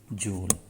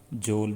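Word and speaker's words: joule: Of kinetic energy is जूल। तो kinetic energy की unit क्या होती है? जूल होती है। तो बेसिक प्रोनाउंसिएशन जो इसकी जूल है, नॉर्मली आप लोग इसे जोल भी रीड करते रहते हैं, लेकिन असल प्रोनाउंसिएशन इसकी जूल है।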